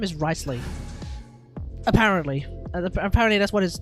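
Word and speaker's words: Wriothesley: you meant to pronounce this right apparently it's pronounced ricely so risely has his Splash art the special got leaked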